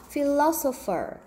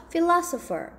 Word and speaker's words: philosopher: philosopher. 한번 더, philosopher. 강세가요, 오에 있고요. 그러면서 아에 가까운 발음이 납니다. 한번 더요, philosopher.